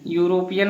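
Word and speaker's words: European: ऐसे देखिए यूरोपियन, यूरोपियन मतलब यहाँ पर ई आया है, वावेल है ई, लेकिन इसका जब हम उच्चारण कर रहे हैं तो पहला अक्षर जो है एक कॉन्सोनेंट की तरह आ रहा है यानी व्यंजन,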